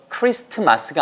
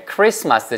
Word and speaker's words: Christmas: 스펠링 이어 잘 보세요 christmas 인데 티가 있는데 발음 하지 않습니다 그래서 크리스트 마스가 아니고 에 크리스마스 지만 티는 쓰실때 빼놓으면